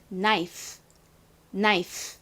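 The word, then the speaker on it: knife: 읽어보면요 나이프 나이스가 됩니다 한국식으로는 보통 나이프 이렇게 발음을 하지만 영어식으로는이 끝 발음이요 줄어들어요 그래서 나이프가 아니라 나이프 나이프 이렇게 끝을 약하게 발음합니다 한번 따라해 볼까요 칼은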